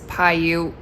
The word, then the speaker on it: Paiute: That being said, I am going to be trying to summit Mount Audubon and Paiute Peak. I really hope I'm saying that right. Nope, it's Paiute.